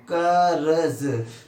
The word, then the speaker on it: कर्ज: अब आप छोटे बच्चे हैं इसमें, कर्ज। तो आपको पता है इस जा जो रा टंगा है जिस अक्षर पे, उस अक्षर से पहले प्रोनाउंसिएशन हो रहा है, उच्चारण पहले आ रहा है।